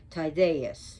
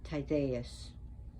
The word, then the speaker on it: Tydeus: She did take a liking to Tydeus. Remember, the D is a DH. Tydeus.